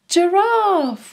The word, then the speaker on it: giraffe: that's a tall giraffe giraffe starts with a soft G sound J J giraffe well done did you